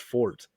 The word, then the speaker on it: forte: something was not my forte to somebody and then she she goes actually it's pronounced Fort uh it's not pronounced Forte and I was like